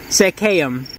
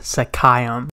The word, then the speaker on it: Seccaium: probably gonna hear some cars but it reads secam okay i want to start by correcting myself and saying that it's pronounced sakayam you have to remember that i literally found